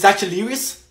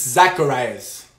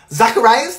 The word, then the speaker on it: Zacharias: bear with me here next one is zachus it's Zacharias that is my fault 100% Zacharias that's how you say it yes that's how you